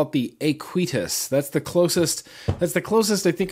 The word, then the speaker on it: Aequitas: I'm going to go ahead and call it the Aequitas. That's the closest I think I'm going to get to the actual pronunciation of this atomizer.